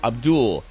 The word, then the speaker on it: Abdul: him his name, and he said Abdul, like Paula Abdul.